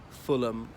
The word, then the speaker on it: Fulham: The other thing is, usually these HAM endings in British place names, the H is silent, as in Birmingham, Fulham, Balham, and there's so many more.